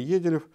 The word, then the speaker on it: Еделев: то мы так и сделаем рубрику, говорит Дмитрий Еделев. Я правильно ударение ставлю?